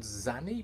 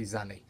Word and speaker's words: Xanny: I think it's called Zanny, but it's spelled, the first letter spelled with an X-A-N-N-Y, so I'm just gonna say Zanny.